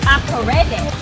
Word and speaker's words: Akorede: A-KO-RAY-DAY. Akorede. Yeah, that's it.